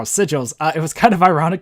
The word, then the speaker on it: sigils: And yeah, I did say it right now, sigils.